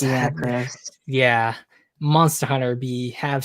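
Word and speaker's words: Lagiacrus: Laggy Acris. That's Lagiacris.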